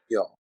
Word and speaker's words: jag: and the word jag is only jag. It cannot be jag. Never. All right. Never Okay. ever say jag. It's only jag. It's Yog.